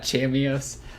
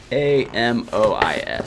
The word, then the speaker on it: chamois: It's called like, I always call it Chameos. I know it's not Chameos, but it's something like that, man. I can't pronounce it though. Chameos. It's CHAMOIS.